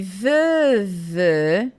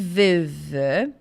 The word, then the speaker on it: veuve: Je suis veuf e je suis veuve. Então, é som de F e de V mesmo. Je suis veuf, je suis veuve.